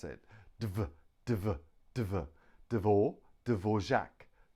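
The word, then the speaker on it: Dvořák: ok we can pronounce it divert over Devore Dvorak Dvorak Dvorak Dvorak 3 syllables Dvorak next one is ah now we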